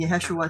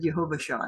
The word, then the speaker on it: Yahshua: significant mispronunciation where I instead of said saying yahshua said yehovah Shah now if you've seen